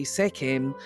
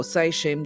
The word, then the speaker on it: Sekhem: I have got the Sacred Petra, Kundalini Reiki, Isis Reiki, Sekhem, or Seishem, depending on how you pronounce it.